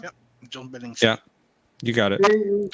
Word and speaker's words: John Billingsley: His actor, I believe it's John Billingsley. Am I pronouncing that right? Yep, John Billingsley.